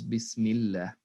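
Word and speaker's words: بسم الله: see in this part when the word allah is preceded by a kasra it's not pronounced as allah which is the default way of pronouncing it it's pronounced as so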